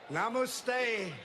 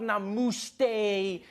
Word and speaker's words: namaste: coming on like dude it's not namaste it's namaste who messes up namaste isn't